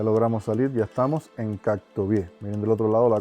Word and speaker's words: Kok Tobe: el nombre del lugar, Cactobié, como se pronuncia correctamente.